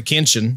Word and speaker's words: Kinchens: It kind of sounds like a kid mispronouncing Kitchens. It's pretty cool, man. Get your Kinch. Sounds like a country. It's like where you eat supper is the Kinchen.